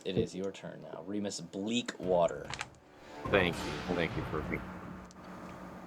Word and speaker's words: Reamus Bleakwater: Remis Bleak Water. Thank you. Thank you for annunciating the proper pronunciation of my name.